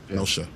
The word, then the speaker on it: Genosha: Anyways, Genoza, thank you. Yes. Genoza, Genoza, right? So Genosha.